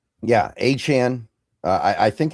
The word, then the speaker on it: Achane: Yeah, Achane. I I think it's I don't know. He changes his pronunciation like every couple months, so I think it's Achane. That's what I've kind of adjusted myself to saying.